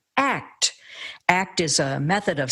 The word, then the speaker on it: ACT: it's known as act which he recommends pronouncing as the word act act is a method